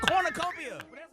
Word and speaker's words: cornucopia: is throwing you off this week's word is Con ucopia just say don't emphasize the you this this week's word is kopia nope for God word Cornucopia j a lion s